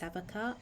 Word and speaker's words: Sevika: How do you even pronounce this girl's name? Wait. Sevika. Okay, apparently it's Sevica.